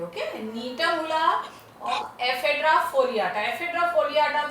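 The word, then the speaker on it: Gnetum ula: Climber, नीटम उला, जी silent है, okay, नीटम उला और एफेड्रा फोलियाटा।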